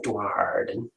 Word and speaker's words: Duardin: Yeah, you've got to pronounce the R in the Darden.